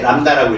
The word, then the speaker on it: 람다: 읽을 때 람다라고 읽으세요. 람다 설립자 뭐 한자로 읽지 말고. 알겠어요? 람다라고 읽습니다.